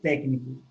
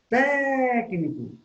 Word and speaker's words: técnico: No caso da palavra técnico. Ó, técnico. A sílaba tônica é té. Técnico, certo?